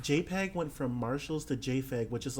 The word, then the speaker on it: GIF: GIF GIF conversation and my pronunciation is JF because it's correct it's what the Creator said it is like every argument